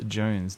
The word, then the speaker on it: Jonz: You are Don Jones, pronounced Jones. Don Jones.